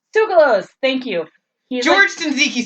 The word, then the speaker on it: Tsoukalos: I love George Chizakis. I think that's how you say his name. Tsoukalos?